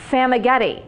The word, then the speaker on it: Famighetti: say her last name sama getty she said it's like spaghetti but with an f so that was perfect